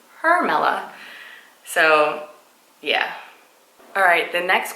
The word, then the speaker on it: Hermela: you pronounce your name my first name is her mela h erm ii o EI and every time I go to Starbucks or any other place and I pronounce my name people here see so they say Carmela and I'm like nope it's with an H it's her mela so yeah alright the